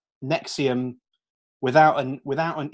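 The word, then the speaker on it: NXIVM: Colts which I can't how do you pronounce that Colt its neck serious nexium yeah isn't there a V in it there is but then that's like a slight shiver cheese isn't it the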